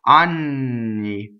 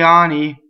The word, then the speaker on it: anni: a woman who is 15 years old right on me and if you say Ani its anuses okay so